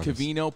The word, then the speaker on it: Covino: that humpty hump day my name is covino pronounced with an ovino i like my oatmeal